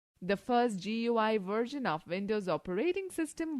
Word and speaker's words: GUI: Windows is a graphical user interface (GUI), pronounced as GUI, between a computer and its user.